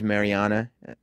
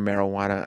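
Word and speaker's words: Marijana: To be fair, her name was Mariana, but it was spelled with a J. Am I the only one that called her marijuana?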